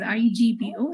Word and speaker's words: Igbo: And in the Igbo community, where the G is silent, even though it is written as IGBO, it is pronounced as Igbo.